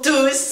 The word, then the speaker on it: tous: ils sont tous partis et quand il est pronom on le prononce nous irons tous au paradis même vous